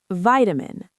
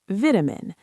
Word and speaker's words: vitamin: Vitamin. American, vitamin. British, vitamin. Different first syllable stress and different vowel sound.